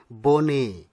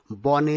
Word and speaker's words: বনে: পরের শব্দটির সঠিক উচ্চারণ হবে বনে, বনে নয়। বনে শব্দটি ভুল উচ্চারণ, সঠিক হচ্ছে বনে।